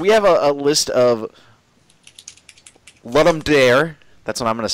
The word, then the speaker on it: Ludum Dare: I pronounce it Ludum Dare. Okay, so that's what I've heard the Roman, most. That's Roman Catholic Latin.